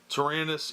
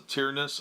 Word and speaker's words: Tyranus: CT target locked battle Taranis edict some people pronounce the tyrannous I think that sounds dumb then we've got wreak